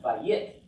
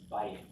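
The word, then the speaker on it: בית: And this one, the accent is on the bait here. See that blue in the next one? He's telling us the accent's on the first syllable. It's not vayit. That just sounds funny. It's bayit.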